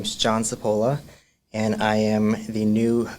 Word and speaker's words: Cipolla: Uh my name is John Sapola and I am the new clinical case manager and student outreach liaison for counseling services at Johnson and Wales.